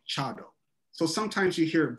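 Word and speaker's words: 茶道: is that sometimes the word for t is pronounced sa like um so a lot of people say sado i think many people of my tradition the urasinke tradition we say chado so sometimes you hear it both ways in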